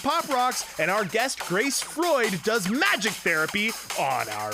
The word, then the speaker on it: Freud: It's Grace Freud.